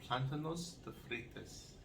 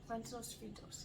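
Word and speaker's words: plátanos fritos: And at the end, we wanted some plantanos de fritas. Is that how you say it? Plantanos fritos.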